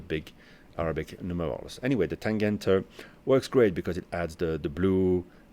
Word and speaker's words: Tangente: Then something different, a Nomus Tangente. I think they pronounce it like that. With my French accent, I would say Tangente.